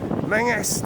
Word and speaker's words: Menzies: Mingus distribution. Mingus. Mingus! It's Mingus! It's not fucking Menzies, it's Mingus! Mingus! I'm telling you! That's how you say it! It's Mingus! It's not Menzies!